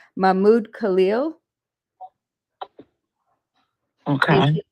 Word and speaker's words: Mahmoud Khalil: And hopefully I'm going to pronounce his name correctly. It's Mahmoud Khalil.